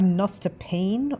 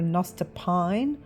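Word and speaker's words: nostepinne: And it's an item called a nostopine or a nostopine or a nostopiner. It depends on what country you come from and how it's pronounced, but I want to get one of those.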